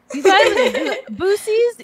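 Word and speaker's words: Buc-ee's: know five months and i didn't know that boosies it's spelled boosie it's spelled b-u-c-d-e-s yeah why would they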